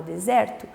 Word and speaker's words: deserto: sílaba tônica ok paroxítona a penúltima sílaba é a sílaba tônica por exemplo na palavra deserto vamos chamar a palavra deserto deserto sempre quando você tá